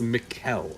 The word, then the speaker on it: Mikkel: It's not Mick. It's Mikkel, right? Yeah, like yeah, a harsh yeah. E. Okay. Yeah, you He- can lean on that consonant.